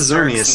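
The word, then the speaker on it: Xerneas: That's Xernius. Xernius is Xernius is a bit easier than Evel.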